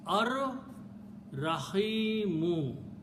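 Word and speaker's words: الرحيم: When we pronounce, we don't pronounce lam, but ra twice, becomes ar rahimu, the most merciful.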